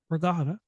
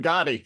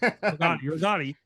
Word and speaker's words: Rigotti: So, Moss, Regatta. I said it right. Regatta. I got it right. Rigotti. Rigotti. I said it right early. I don't know why I said regatta.